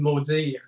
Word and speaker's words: Maudiir: But the real way to say it in French, of course, is Maudiir.